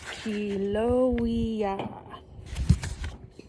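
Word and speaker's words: Haleiwa: in Kiel oh yeah it's pronounced helo II a small town on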